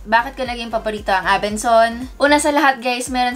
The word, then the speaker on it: Abenson: Abenson po at hindi Abensons. Ang dami kasing nalilito na iba dyan na Abensons ang pronounce. Dati ganun din yung pag-pronounce ko, but at least alam na natin, wala pong S sa dulo.